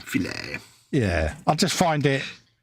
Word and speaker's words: filet: Because, See, I love the fact that everyone goes to McDonald's and orders a fillet of fish when it's actually filet because it's a French word.